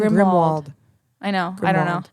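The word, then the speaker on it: Grimmauld: park near grimald Place how do you pronounce that grimald grimwald I'm pretty sure and if I'm wrong all the har poter fans are screaming at me right now there's no W I know grimal grimald no it always sounds like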